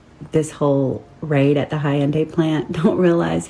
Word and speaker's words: Hyundai: It's pronounced Hyundai. Hyundai.